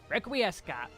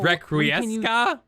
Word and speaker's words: Requiescat: Level 68, Requiescat. All right, now we can use Holy... Are you serious? Requiesca? So you don't pronounce the T? Are we back? Is it French again? Is this French?